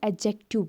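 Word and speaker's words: adjective: उसके बाद एडजेक्टिव यहाँ पे है ना, इसको हम एडजेक्टिव नहीं बोलते, हम इसको एडजेक्टिव बोलते हैं, यानी डी साइलेंट है यहाँ पे।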